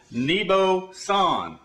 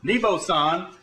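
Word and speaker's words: Neboxian: And I also want to introduce you to my web name, which is NeboSan. NeboSan. It's spelled N-E-B-O-X-I-A-N.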